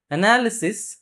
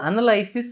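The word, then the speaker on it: analysis: அதே மாதிரி அனாலிசிஸ், அனலைஸ். இப்போது மோஸ்ட்லி நீங்கள் வந்து ரீட் பண்ணும்போது அனலைசிஸ் அப்படின்னு சொல்லுவீங்க, பட் எக்ஸாக்ட்லி அதோட ப்ரனன்சியேஷன் அப்படிங்கிறது அனாலிசிஸ் அப்படின்னு வரும். இந்த மாதிரி இப்போ வேர்ட்ஸை எடுத்துக்கிறோம்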